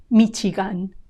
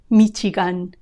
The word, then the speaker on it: Michigan: e a Louisiana Louisiana Michigan Michigan notice the CH sound Michigan Michigan also notice